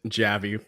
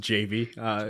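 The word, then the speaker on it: Javy: in a quick aside, I've always pronounced it Javi, but I think it's actually pronounced JV. Is that official pronunciation, or have you sort of like bounced back and forth? Well, we always call it Javi, so I think you're on track there.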